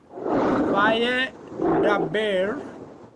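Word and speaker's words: וַיְדַבֵּר: So make two open syllables to begin your pronunciation. Va-ye. Vayedaber.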